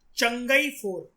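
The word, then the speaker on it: Chang'e 4: Very good, चंगई 4, pronunciation is चंगई 4 mission, ठीक है।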